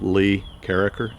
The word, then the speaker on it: Carriker: You can send it to Uncle Floyd, care of Lee Carriker, C-A-R-R-I-K-E-R.